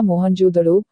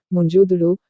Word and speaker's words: मोहनजोदड़ो: इनमें से 2 शहर बहुत महत्वपूर्ण हैं, पंजाब का हड़प्पा और सिंध का मोहनजोदड़ो। मूल उच्चारण मुंजोदड़ो, शाब्दिक झूठ, राक्षसों का टीला।